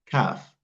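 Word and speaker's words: كاف: In the same way, Qaf and Kaf are also different letters, so we must learn how each one is pronounced and how each one is written.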